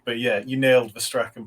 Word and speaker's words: Strachan: Is Strachan how you pronounce it?